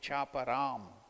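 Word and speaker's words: cāparam: There it is, after A, on the A there is a mark, so you should elongate, chaparam.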